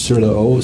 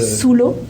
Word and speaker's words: sous l'eau: Sur le eau. Sur le. Sous l'eau.